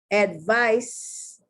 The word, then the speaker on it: advice: Advice, advise. The C is being pronounced like an S, and the S is being pronounced like a Z.